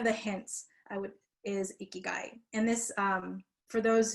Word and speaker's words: ikigai: 10 or so years so how do you pronounce it so as you've been hearing ikigai and i know sometimes um i saw someone